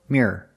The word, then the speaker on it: mirror: The second one has 2 syllables, no matter how fast you say it.